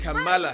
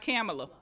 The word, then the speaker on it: Kamala: camilla harris kamala harris did i pronounce her name right because you have to pronounce the name right as well i think it i think it you did kamala harris kamala kamala harris not camelot kamala harris what do you think